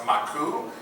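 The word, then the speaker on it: マーク: But, a little odd fact here, Mark, if you take Mark and you say it in Japanese, it would be pronounced Maku, which would be M-A-A-K-U, which is an anagram of Akuma, which means demon in Japanese.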